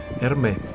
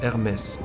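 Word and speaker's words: Hermès: нуждается очень странно но в россии многие называют эту марку перми хотя правильно оно произносится эрмес это правда что во многих словах во французском последняя буква не произносится особенно если она согласна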